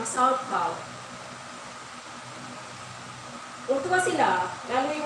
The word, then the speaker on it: sauerkraut: natin kung pronounce natin sauerkraut, pero kung sa kanila silent R, parang sauerkraut.